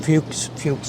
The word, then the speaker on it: Fuchs: So for those of you, I'm sorry, the younger people, the Fuchs family, that's how you pronounce it, right?